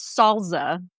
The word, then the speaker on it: salsa: So, I think it's salsa, right? Just with an American accent. My dad says salsa like with a Z. Salsa. What is a salsa?